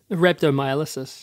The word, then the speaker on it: rhabdomyolysis: Rhabdomyolysis.